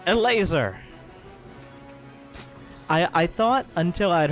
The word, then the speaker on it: Elazer: out loud it was Eleazar because is his name just eat laser is that just how you say it yes apparently a laser there you go and